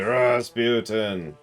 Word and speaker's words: Rasputin: No, you have to say it right. You have to say Rasputin.